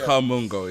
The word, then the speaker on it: Kamungo: Kamungo is how you pronounce his name. Yeah, Kamungo.